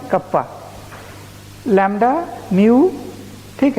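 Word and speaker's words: κ: इसको क्या बोलते हैं, एप्सिलॉन, ईटा, थीटा, आयोटा, कप्पा। ठीक है, कटप्पा नहीं, कप्पा, लैम्डा, म्यू।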